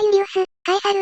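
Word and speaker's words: Iulius Caesar: ラテン語ならユリウス、カエサル、ウェニー、ウィーディ、ウィーキー。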